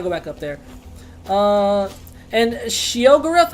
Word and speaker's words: Sheogorath: And Sheogorath, is that I'm saying it right? Is the Daedric Prince of Madness. That's right.